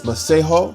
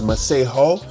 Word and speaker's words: Masego: Like, if if he would have put it in the description of his, um, profiles Maseho, we would have all said Maseho. But, we've been It's been pronounced and said Masego.